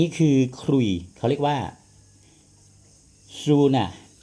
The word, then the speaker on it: ซูนา: ขลุ่ย เขา เรียก ว่า ซูน่า ซูนะ นะ ครับ ผม สู้ ไม่ ใช่ สู้ หลัง นะ ครับ ซู ซอ โซ่ สระ อู น หนู สระ อา กซู่า คือ มัน สะกด ด้วย s u o นะ ที่ เขา เขียน